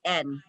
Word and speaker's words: Samhain: This was called Sauin, and it's spelled Yes. Sauin. Okay. Samhain.